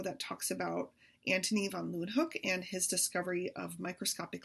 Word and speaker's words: Leeuwenhoek: L-A-Y, lay, ooh, then, they pronounce it with a V, hook, Leeuwenhoek, Antonie van Leeuwenhoek.